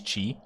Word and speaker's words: qi: i mean zed today i learned the chinese pronunciation of of ki is chi i don't know if i'm saying it exactly